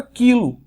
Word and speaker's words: quilo: Na palavra quilo, o Q e o U são pronunciados com som de vogal. Desculpa, de vogal não, de K, da consoante K.